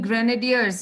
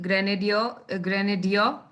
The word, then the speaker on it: grenadier: So that word grenadier, R is silent, grenadier.